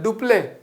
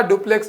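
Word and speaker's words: Dupleix: तो डुप्ले फ्रांसीसी गवर्नर थे, लिखा डुप्लेक्स जाता है इस तरीके से, लेकिन फ्रांस में उसे कहा डुप्ले जाता है, प्रोनाउंस डुप्ले कहा जाता है।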